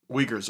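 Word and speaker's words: Uyghur: Yeah, it's Waguer. Well, there is a He was pronouncing it the correct way. It's It's a little bit like harsher in the throat area.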